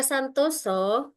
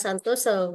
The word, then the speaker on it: Santosa: Master Santoso, Santosa ya, tapi bacanya Santoso, bukan bahasa Jawa ya, adalah Kepala Sekolah Menengah Atas Bina Insani Mandiri, Nganjuk.